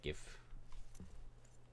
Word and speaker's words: GIF: Yep, that's how I pronounce it because it stands for graphics something. Starts with the letter G. Hard G. Graphics. So, GIF. Also, my dog is laying on the floor next to me.